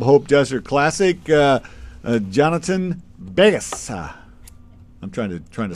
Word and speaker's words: Vegas: to pronounce it well the V the V is like it's almost like a and combined B Bas kind of like camoo ver